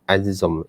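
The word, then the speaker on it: A'dzam: itu istiwa Azam itu kalau ikutkan ejaan bahasa Melayu yang Betulnya makna a apostrofi d z a m ini macam jadi istiwa azzom azzom Al Alif a mim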